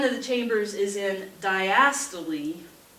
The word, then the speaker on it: diastole: the chambers is in diastole diastole that's how you say it it's not how you read it that's how you say it diastole that's when that part